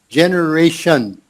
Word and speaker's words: generation: there's that word generation generation yeah so that t-i-o-n sound is it's just about always pronounced shun s-h-u-n okay so here it